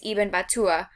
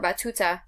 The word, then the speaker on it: Ibn Battuta: His name was Ibn Battuta, or Battuta, depending on how you want to pronounce it.